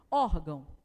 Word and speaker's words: órgão: tá só por isso órgão você fala o órgão não né órgão olha aqui a sílaba tônica esse aqui então não é nossa sílaba tônica embora ele receba um